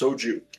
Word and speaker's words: soju: It's pronounced soju.